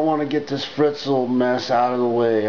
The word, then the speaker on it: Fritzl: and i don't know this guy fritzl rhymes with schnitzel which is basically german